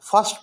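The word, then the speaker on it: first: हम ज़बर पढ़ेंगे और फर्स्ट में आर हम बोलेंगे नहीं, फर्स्ट, फर्स्ट. अलबत्ता अमेरिकन इंग्लिश आर बोला करते हैं, वो बोलते हैं फर्स्ट, फर्स्ट, लेकिन ब्रिटिश इंग्लिश में से फर्स्ट बोला करते हैं.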